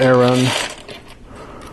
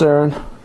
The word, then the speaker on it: Aaron: Start with Aaron, or Aaron. Got 2 A's. Aaron. Aaron. There's a Key and Peele sketch where the substitute teacher calls out all the wrong names, or he pronounces them all wrong, and there's an Aaron in the class, but it's spelled A-A-R-O-N, so the teacher says Aaron. So that's why I keep saying Aaron.